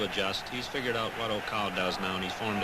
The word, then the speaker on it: Okau: a problem with him but I understand he's pronounced Oka he's a very famous fighter in Japan in